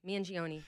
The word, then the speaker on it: Mangione: Mangione.